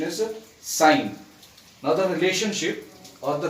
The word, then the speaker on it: sine: it is known as sine, but many people pronounce it as sin, which is a wrong pronunciation. The correct pronunciation is sine.